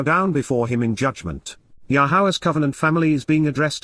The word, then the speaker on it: Yahweh: Indeed, Yahweh, the proper pronunciation of the name of Eloah, God has directed in